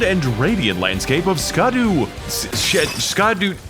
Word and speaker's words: Scadu: radiant landscape of scadu scadu it's pronounced Shadow alus a beautiful domain